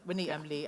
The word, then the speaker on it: Winnie M Li: Yeah, That's how you pronounce it. Yeah, Winnie M Li and Catherine Howard.